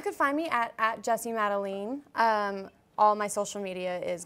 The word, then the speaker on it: Madelene: madeline and she's like your name isn't Madeleine it's madelene I was like what